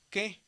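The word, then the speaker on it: καί: Aquí tenemos un diptongo y dijimos que cuando hay una alfa y una yota se dice como e. Aquí la palabra es que, pero hay muchas personas que lo pronuncian como kai porque ya se les quedó, ¿verdad? Cualquiera de las dos maneras está bien dicho, nada más que según la gramática del gioco moderno es que y por ejemplo dice Neo y Daniel, ¿verdad?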